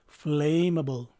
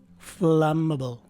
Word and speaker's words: flammable: our non-native english speakers mispronounce this word as flammable i am guessing that this mistake is caused by our tendency to follow the pronunciation of its root word flame however the correct way to say this word is flammable as can be seen in its phonetic spelling the stress is right in the first syllable the first